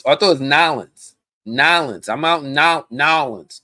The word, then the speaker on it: New Orleans: Oh, I thought it was Nolans. Nolans. I'm out in Nolans. Nolans. Right? Nolans. That not New Orleans. Nolans. That's how you do it.